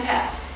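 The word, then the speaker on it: Pepys: might have been uh Samuel peps peeps I'm sorry I always say his name wrong Samuel peeps I don't know if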